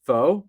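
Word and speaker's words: Phaeux: It's faux. I've been saying it wrong this whole I time. guess. Oh, faux. It's spelled All right.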